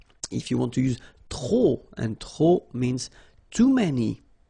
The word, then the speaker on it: trop: If you want to use trop, and trop means too many, okay? Then you will have to put de, and the noun without the article. Okay, remember, too many, trop, don't pronounce the final P.